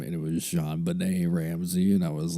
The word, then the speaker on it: JonBenét: now i didn't know at all how to pronounce her name i thought it was john bennett clearly i did not take french or anything